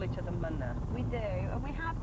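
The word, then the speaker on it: Mna: Lisa and I call each other Manna. We do, and we have done actually since. And it's spelled M-N-A. As in Manna.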